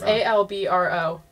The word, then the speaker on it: Albro: It's A-L-B-R-O. People are always like, I didn't know your dad was from another country. I'm like, he's not. How do you pronounce it again? His mom is. His mom's from a different country. How do you pronounce his name? Albro. Albro.